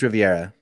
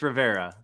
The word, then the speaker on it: Rivera: I don't feel like it's Riviera. Yeah, no, Riviera. It's Rivera.